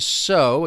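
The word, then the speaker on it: sow: But to sew, in this case, to sew again with that long o sound, we're talking about putting seeds in the ground so that plants will grow.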